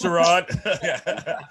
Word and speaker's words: Sherrod: It's Sherrod. Let him pronounce it the way he wants.